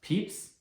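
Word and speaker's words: Pepys: a man named samuel peeps despite this spelling his name is pronounced peeps who worked as an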